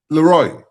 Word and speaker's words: LeRoy: Could you put I am my It's pronounced Leroy. It's L E capital R O Y. Leroy.